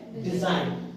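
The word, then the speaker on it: design: नियम क्या है की अगर जी एन के पहले आता है है ना किसी भी स्पेलिंग में जी एन के पहले आता है तो हम जी का प्रनंसीएशन नहीं करेंगे जैसा क्लियर इसे डेट क्लियर सब बोलिए डिजाइन क्या है डिजाइन तो इसमें भी जब हम यहां पे देखिए यहां इस स्पेलिंग में भी जीके पहले जीके एन किसके पहले एन के पहले तो जी को नहीं बोलेंगे उसमें से है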